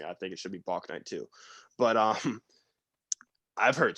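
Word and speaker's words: Bouknight: james book night which i keep saying bach night but apparently it's pronounced book night so if that upsets you trust me i think it should be block night two but um i've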